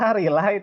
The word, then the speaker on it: relay: Iya, relay, tulisannya emang relay, tapi bacanya kita relay gitu ya.